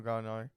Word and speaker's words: Gallinari: Yeah, Danilo Gallinari.